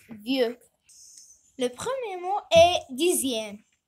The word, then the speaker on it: dixième: Le premier mot est dixième. X se prononce Z.